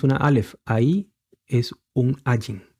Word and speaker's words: Ayin: Aleph, ahí es un Ayin. En los tiempos antiguos, la Ayin tenía un sonido semítico. No es como ahora. Ahora la Ayin, al igual que el Aleph, es un sonido mudo.